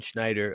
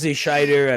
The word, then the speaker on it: Schider: I've been called I've been called worse than than Schneider a lot of people throw ends in there yeah we get we